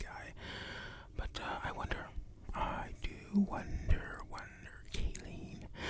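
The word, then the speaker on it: Kayleen: But I do wonder, Kaylin. Or is it Kaylin? I can't be Kaylin. It's Kaylin. Wait, no, it is E-E-N. Kaylin.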